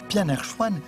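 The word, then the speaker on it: 片儿川: Le plat de nouilles aux légumes en conserve, qui se prononce Pianerchuan, est un bon exemple.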